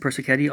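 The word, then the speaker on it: Persichetti: lot of band music wind ensemble music Vincent Percy Kenny also wind ensemble music very good composer that's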